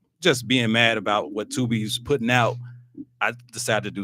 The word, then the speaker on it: Tubi: Tubi movie is not pronounced Tube E like Randall did, but it's Tubi movies, so Tubi won't try to come after me.